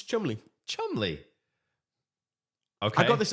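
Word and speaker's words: Cholmondeley: I like chle CH chly chle chly it's Chumley Chumley okay I got this other website by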